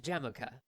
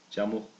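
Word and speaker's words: Jamukha: sometimes camped nearby a slightly older boy named jamocha the boy's hundred I'm gonna tell you guys dude correct pronunciation it's jumbled huh did played and explored the mountains together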